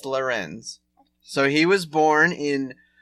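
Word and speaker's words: Lérins: Vincent of Lerins does rhyme with Vincent of Benz. Your cousin and uncle. But no, it's Lerins.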